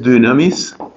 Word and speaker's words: dynamis: Potencia es dynamis, que se escribe con Y, la primera, para indicar la pronunciación de la Y griega. Entonces esto aquí es dynamis.